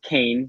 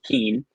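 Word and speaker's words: Kean: And yes, it is pronounced Kane, not Keen.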